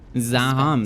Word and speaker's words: Zaham: Zaham, that's how you pronounce that.